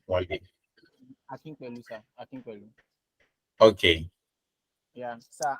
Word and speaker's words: Akinpelu: Akin Pelu. God will help me. I will know how to pronounce name one day. Akinpelu, sir.